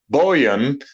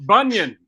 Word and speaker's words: Bunyan: danny earls robert berman scott bowien hopefully that's pronounced somewhat right bill the geese it's bunion it's scott bunyan he's awesome you gotta